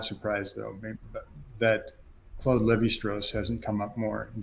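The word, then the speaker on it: Lévi-Strauss: they familiar with distress so this is a Le bistros spelled like the blue jeans see like it makes me want to say leave like Levi straws yeah like you want to say Levi Strauss but um you got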